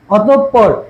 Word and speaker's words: অতঃপর: এখন দেখো এই যে দেখো বিসর্গর পর, বিসর্গর পর, বিসর্গর পর যে ব্যঞ্জন আছে না, বিসর্গর পর যে ব্যঞ্জন ব্যঞ্জন আছে সেটা কি দ্বিতীয় উচ্চারণ হবে, কি হবে দ্বিতীয় উচ্চারণ হবে অতঃপর, অতঃপর।